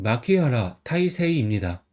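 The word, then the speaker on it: 牧原大成: 20번은 마키하라 타이세이입니다. 한자는 칠목, 근원원, 클때, 이룰성입니다. 칠목은 마키, 근원원은 하라, 클때는 타이, 이룰성은 세이라고 읽어요.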